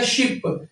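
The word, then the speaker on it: 십: इ वाला वने शी शी नीचे फिर बी ओ की पे आवाज़ बनेगा शिप।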